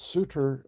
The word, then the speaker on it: Sutter: at the fort and the austrian or european pronunciation of sutter is suitor and we do that